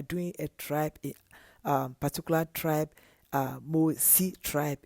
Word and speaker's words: Mossi: but we are doing a tribe, particular tribe, Mosi tribe. It's Mosi, it's MOSSI, and sometimes they tend to spell it MOORE or MORE or MOSHI instead of E.